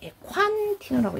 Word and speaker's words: Ecua-Andino: 에콴티노 햇이라고, 이렇게 에콴티노라고 읽는 거래요.